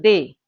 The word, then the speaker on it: des: It's pronounced as day.